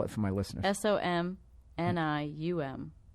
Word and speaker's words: Somnium: SOMNIUM. It's phonetic. It's just a weird word.